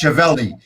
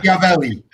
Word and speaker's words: Schiavelli: I don't know, but Dan is not pronounced Chevelli.